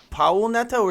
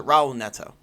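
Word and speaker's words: Raul Neto: point guard job out of Trey Burke and Powell Neto is a Raul Netto you got it is the H are pronounced like H you know with a game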